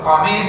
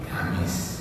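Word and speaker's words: قميص: sekarang masih ada, yaitu mereka biasa mengatakan kalau qaf itu disebut go, ya. Jadi qalallahu ta'ala go, padahal harusnya qaf. Nah, itu namanya lah. Nah, di sini juga itu qamis disebut gamis. Misalnya as-saqaf, bacanya as-segaf. Nah, seperti itu.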